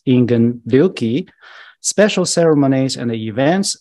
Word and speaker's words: Ingen: 350 death anniversary of zen master Japanese pronunciation is inan special ceremonies and the